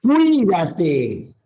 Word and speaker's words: cuídate: que fue Saúl Saúl Fíjate que la palabra Cuídate la tilde está en la i Cuídate nunca se separa siempre es está Mira